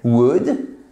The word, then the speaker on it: would: Ça serait conditionnel, would. Faites bien attention, on ne prononce pas le L. Et c'est un ou court.